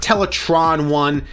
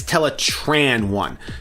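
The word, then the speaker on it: Teletran 1: the role but for primus's sake please just pronounce teletran one right it's not teletron one it's tetran one in Beast Wars even rat trap corrected black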